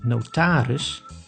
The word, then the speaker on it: notaris: In two specific situations, the I is pronounced as e, when the word has an unstressed ending on I plus G, like in smerig, which means dirty, and I plus S, like in notaris, which means notary.